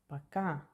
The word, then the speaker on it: пока: Can you hear the accent? Stress пока. It's on A. And so will be O became A. Пока. The consonant K is always as English K, K. So пока is goodbye or bye.